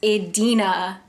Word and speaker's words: Idina: I've said her name since I was a child as Anita, and it's not. Idina Menzel.